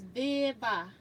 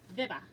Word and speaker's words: Viva: Just to help you say my name, it is a long I and a short A, so it's Viva. Viva.